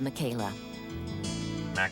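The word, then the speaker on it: Makela: to go Bone hunting with his friend Bob Michaela Mao that's how you say it yeah as usual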